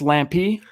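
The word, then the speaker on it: Lampe: I've been saying it like I love Lamp, right? Like from Anchorman, but it's Lampy. I love Lampy.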